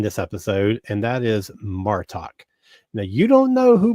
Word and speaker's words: Martok: I think I call him Martek just now instead of Martok.